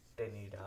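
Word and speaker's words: ctenidia: Okay, यहाँ पे gills को बोला जाता है टेनिडा, सी silent टेनिडा। Okay, these are called as tenida and these are located in the mental cavity।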